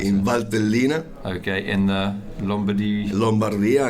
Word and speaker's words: Valtellina: I can't pronounce it. In Valtellina.